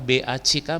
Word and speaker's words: back: Those bags, ingat pengucapan tas dengan belakang apa, belakang BACK bacanya apa? BACK, BACK, BACK, BACK dengan BAG, bedakan ya nanti ya. Oke, back harus ada k dikit ya, back.